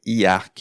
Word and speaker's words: IArk: ça nous fait dire IARC et il faut prononcer chaque syllabe si vous voulez que ça fasse du sens et si vous voulez que le jeu de mots soit efficace.